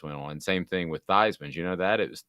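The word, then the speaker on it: Theismann: on same thing with theisms you know that it was thiesman but he changed the theism because it rhymes with heisman did not yeah that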